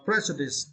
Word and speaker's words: prejudice: uh now right uh Prejudice yeah preice and for this words you need to St the first syllable pre preice preice preice